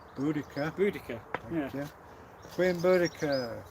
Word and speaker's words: Boudica: one of the most famous British women warriors, Boadicea. Boudica. Yeah. You. Queen Boudica.